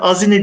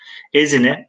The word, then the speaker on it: Ezine: Ezine Evet Yasemin Hanım Ezine demiş doğru Ezine Arkadaşlar doğru yanlış değil Eee fakat azine diye yazılmış demek ki o zaman telaffuzu arkadaşlar o şekilde azine burada yazılan şekli fakat günümüzdeki telaffuzu nedir Arkadaşlar Ezine Evet biraz susuyorum arkadaşlar